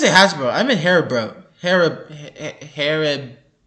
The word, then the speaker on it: Haribo: Haribo. Haribo. Haribo. That's hard for me to pronounce for some reason.